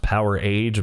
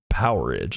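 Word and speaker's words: Powerage: ACD DC power Edge I've heard this pronounced power age but I think it's like power Edge like amperage you know uh this is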